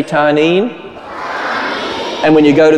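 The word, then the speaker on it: תנין: It's pronounced tanin. Can you say tanin?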